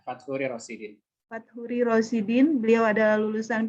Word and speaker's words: Fatchuri Rosidin: Bang Fat ini nama lengkapnya adalah bacanya gimana nih? Faturi Rosidin. Benar ya Bang? Ya, Fathuri Rosidin.